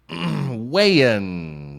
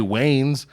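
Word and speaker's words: Wayans: the good WS brother wean it's like mayonnaise you know weird last name well you got to say it right you could say Wayne is Wayne bra they're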